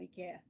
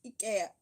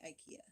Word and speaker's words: IKEA: The only Swedish I speak is anything that comes out of IKEA, which is how it's actually pronounced. IKEA. I learned that. We say IKEA.